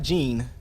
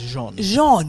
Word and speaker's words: Jean: sure you pronounce it it's not Gene not Gene I like Jean Grays it's not X-Men this is Jean French very French Dennis